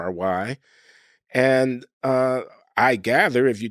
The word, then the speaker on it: Loury: My name is Loury, spelled Loury, but pronounced as if it were Lowery.